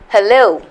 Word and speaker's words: hello: what about these words hello where's the stress hello pretend begin where's the stress can you guess say the words out loud you've said hello so many times where you stress hello second syllable pretend second syllable begin